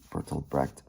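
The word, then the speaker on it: Bertolt Brecht: The Germans pronounce it Bertold Breed.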